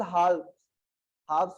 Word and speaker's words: halves: it divides current into equal halves बोलते हैं उसको, L साइलेंट रहता है, such that it divides current into equal halves, ठीक है ना।